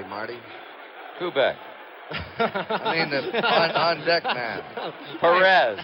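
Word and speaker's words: Pérez: Kubek on deck man Perez Perez I think Kubek is correct he says Paris better I guess that's the Latin American pronunciation PEs but canal said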